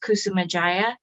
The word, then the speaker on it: Kusumadjaja: My last name is pronounced Kusumadjaja. The D is silent, the last J sounds like I would have got it wrong.